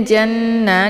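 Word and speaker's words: جَنَّة: Jadi cara bacanya itu nunnya didengungkan ya. Jadi ja ditekan, kemudian ditahan suaranya 2 harokat sambil dileburkan suara ke dalam huruf nun. Janna ya.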